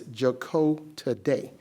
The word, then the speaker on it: Jacotade: It's actually pronounced as Jacotade, just like that.